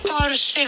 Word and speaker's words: Porsche: Non è Porsche. È Porsche con la E come la Scheisse di pronuncia che c'hai.